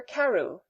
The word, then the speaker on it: Crewe: difference in the name Madame Pascal pronounced it as if it were Karu instead of crew but that might be merely